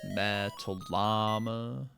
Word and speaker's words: Metallama: But like not the pronunciation, not the because it's Metallica. Whereas mine is Metallama, you know.